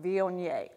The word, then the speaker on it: Viognier: be v o nie and like a n-y-a-y vionier so the vionier grape the grape variety grows